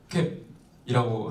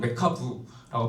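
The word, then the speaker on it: MeCab: 그래서 한국에서도 자주 쓰이는 형태소 분석기 중에 하나가 이제 맥캡이라고 한국에서 많이 발음을 하는데 실제로는 메카부라고 발음을 하는 게 맞습니다.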